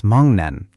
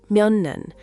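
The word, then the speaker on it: 먹는: But g meets n, so it becomes Mongneun. Almost. The sound is right, but Korean speakers actually pronounce it Myonneun. The g nasalizes to ng, but it blends more smoothly.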